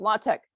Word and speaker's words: LaTeX: we offer which is latex sometimes pronounced latex really doesn't allow you